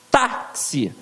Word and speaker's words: táxi: nasalização agora aqui ó taxi táxi então viu onde é que ficou a sílaba forte na penúltima então tem acento por quê Porque é terminado em i e presta atenção na